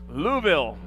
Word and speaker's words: Louisville: the 89 bike Arlo flapper of Louisville that's Louisville Jim was teaching me how to say it